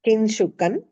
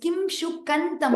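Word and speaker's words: किम्: Sorry, not kin. It's Kim Shukantam. Oh. Okay. Kim Shukantam Shukam. Kim Shukantam Shukam. Sorry, correct, what ma'am? you're pronouncing, it is not kin. It's not tata tata. Kim Shukan. There it is na. The first is Kim.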